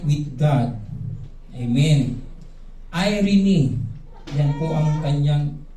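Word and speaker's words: Εἰρήνη: Irene yan po ang kanyang pronunciation.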